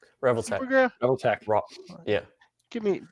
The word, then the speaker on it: Revoltech: Revoltech? Revoltech.